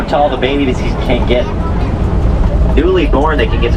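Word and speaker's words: gnu: They have another name, spelled GU, pronounced new.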